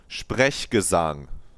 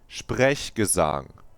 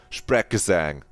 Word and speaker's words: Sprechgesang: It's Sprechgesang. Sprechgesang. That's how you say it, not Sprechgesang.